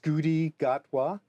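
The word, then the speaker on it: Ncuti Gatwa: It's um I think it's pronounced Scooty Gotwa.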